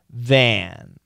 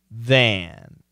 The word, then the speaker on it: than: And this is what we call a short A. And the pronunciation is than. And the short A can be stretched, than.